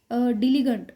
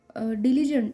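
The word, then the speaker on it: diligent: Then next word is डिलीगेंट. Next word is डिलीजेंट. उसका pronunciation है डिलीजेंट.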